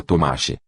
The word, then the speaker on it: Tomasz: Ouve-se pronunciar a palavra Tomasz, pronúncia polonesa de Thomas, e a mesma palavra